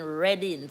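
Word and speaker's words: Reading: England they are in reding um Trisha say it is spell r e a d i n g like when you read something but it is pronounce red r e d d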